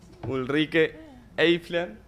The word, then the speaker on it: Ulrike Eifler: Y le vamos a dar paso a, que me voy a aprender el nombre, Ulrike Eifler, de IG Metall, del Sindicato Metalúrgico Alemán. Ja, perfekt ausgesprochen.